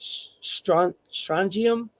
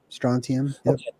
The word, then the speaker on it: strontium: never pronounce it uh let me let me strangium I think is how you pronounce it is that right strontium it's a high energy radiation can be used